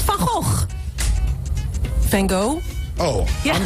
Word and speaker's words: Van Gogh: No, we pronounce it as Van Gogh, but the Dutch painter, Van Gogh.